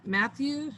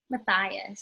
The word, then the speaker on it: Matthias: Matthew, or how do you say that again, Miss Mooney? Matthias.